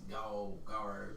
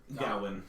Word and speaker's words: Gawain: Okay, so I'll go and see this Gower, the guy, that one guy. Gawain.